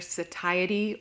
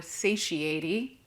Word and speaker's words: satiety: bottom an energy and this is depending on where you're from it's pronounced either satiety or satiaty but it's that feeling